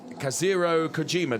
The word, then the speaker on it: Kazuhiro Kojima: And then Kazuhiro Kojima. Did I pronounce that correctly?